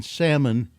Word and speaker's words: salmon: I now know that the I in salmon is silent.